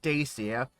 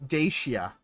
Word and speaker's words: Dacia: just be honest Dacia it's not Dacia it's daia but or is it daa I think it's daia but neither here nor